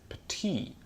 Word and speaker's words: petit: For example, the word petit would be pronounced as petit.